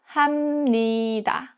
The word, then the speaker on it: 합니다: If a syllable ends with a P sound, like 비읍 or 피읍, and the next syllable starts with 니은 or 미음, the P turns into M sound. That gives 합니다 to 합니다.